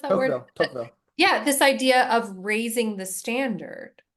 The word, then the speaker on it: Tocqueville: How do you pronounce that word? Tocqueville.